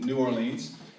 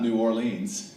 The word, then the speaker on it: New Orleans: And also, when you ask them how to pronounce where they live, it's not New Orleans, it's New Orleans, right?